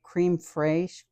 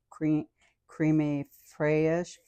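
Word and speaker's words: crème fraîche: And when I make mashed potatoes, sometimes I use some, I don't know how to pronounce it, creme fraiche, creme fraiche, anyway, CREME, and it's spelled FRAISCH, creme fraiche.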